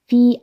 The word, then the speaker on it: wie: 그 다음에 이 w는 w가 아니라 wie, 독일어에선 이거 wie라고 읽습니다.